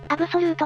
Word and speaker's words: abxylute: ポータブルゲーム機で読み方はアブソリュートっぽいことからアブソルートだそうです完全なとか確か